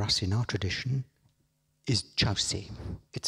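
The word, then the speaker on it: Kyaukse: And the third place, very important for us in our tradition, is Chause. It's spelt Kyorkse, but pronounced Chause, and Chause is what I'll call it all the way through this talk.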